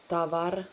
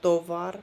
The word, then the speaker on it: товар: Tavar. There you heard that the first O was like A. Tavar, not tovar, but tavar. So then the emphasis is on the last syllable, right?